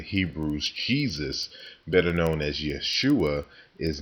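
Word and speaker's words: ישוע: really a Y sound, and Jesus, which is pronounced Yeshua or Yahashua.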